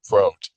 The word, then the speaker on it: Prot: in the Lyra constellation, Prot, this guy's name, it's like Kevin Spacey, and pronounced with a long Prot, rhyming with boat, is committed to the Psychiatric Institute of Manhattan, where he meets Dr.